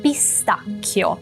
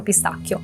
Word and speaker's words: pistacchio: Vamos começar pelo final. O, io, chio, k, como se fosse um que. Chio. Para criar o som que, se vocês em português utilizam que, o i, a gente em italiano utiliza CHE, mas o som é idêntico.